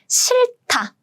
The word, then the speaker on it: 싫다: 싫다, 싫다. It means to be distasteful, disgusting. Basically, you don't like something. So, 싫다. Again, I'm pronouncing the 받침 on the left side, the first 받침.